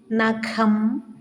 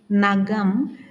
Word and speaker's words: നഖം: ഉച്ചരിക്കുമ്പോൾ ശ്രദ്ധിക്കണേ നമുക്ക് ഉച്ചരിക്കാം സുഖം മുഖം നഖം ഖാദി അഖിലം ഹരം എന്ന് ശരിയായി ഉച്ചരിക്കുന്നതിന് പകരം നാം സുഖ സുഖം മുഖം നകം ഗാതി അഖിലം ഗരം എന്നിങ്ങനെ തെറ്റായി വച്ചിരിക്കുന്നത് ഒന്ന് ശ്രദ്ധിക്കണേ എന്നാണ് പറയുന്നത്